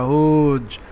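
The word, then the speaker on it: who: ইংরেজি বলতে হবে হু এখানে স্পেস রয়েছে টান দিতে হবে হু নট হু হু টান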